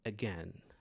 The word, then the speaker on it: again: Ele é bem distinto, bem sutil, como no a da palavra again. Again, você não diz again, você diz a again. Este sonzinho inicial é o shua sound.